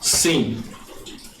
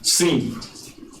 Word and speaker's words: sim: The Spanish people cannot pronounce sim. Yes, sim. Because they don't have in. People have im. They don't have sim. So they pronounce si.